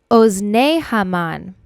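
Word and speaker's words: אזני המן: we eat during purim but to pronounce it correctly in hebrew we would have to add the yud at the end of the word this means of or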